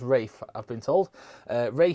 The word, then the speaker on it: Ralph: is well fight rafe it's spelt ralph it's pronounced rafe i've been told uh